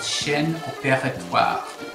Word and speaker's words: chaîne: is for a very fancy French term called Shen and can actually say it like that because